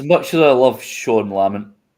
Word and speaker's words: Lamont: as I love Shan lament I'm not going to call him Lamont because that's not how you pronounce it um he he just